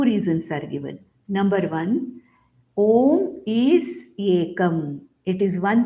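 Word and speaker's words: ॐ: It is Om. Though it is made up of A, U and Ma, when we chant, we say Om. It is one single syllabled sound, Om.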